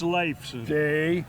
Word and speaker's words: Leifson: It's Leifson.